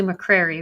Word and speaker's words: McCrary: I have with me Ashley and it's Ashley McCreary, right?